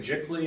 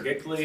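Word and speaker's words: giclée: Like, looks like Jickly or Gickly. It does. It's spelled G-I-C-L-E-E.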